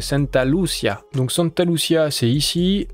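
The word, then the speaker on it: Santa Lucía: valait sera établie à Santa Lucia je l'ai un peu prononcé à l'italienne c'est Santa Lucia donc Santa Lucia c'est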